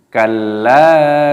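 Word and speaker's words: كَلَّا: Kalla sawfa ta'lamun. Kalla sawfa ta'lamun. Lam alifnya dibaca panjang dan jangan lupa ditasdid, ditekan, dimasukkan, diidghamkan. Kal. Nah, kalla panjangkan, saufa, wawu sukun dibaca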